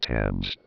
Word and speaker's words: Thames: That's pronounced Thames.